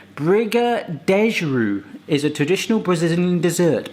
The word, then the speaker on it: Brigadeiro: So when I pronounce Brigadeiros, that's how I wanna pronounce it. And, but Wikipedia does say Briga-dej-ru; is a traditional Brazilian dessert. But that's how you pronounce it, Briga-dej-ru.